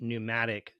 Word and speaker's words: pneumatic: the Pentagon with the pneumatic tube systems. That's a silent P pneumatic.